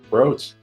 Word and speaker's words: brooch: It looks now like an inanimate beetle-shaped brooch. Brooch.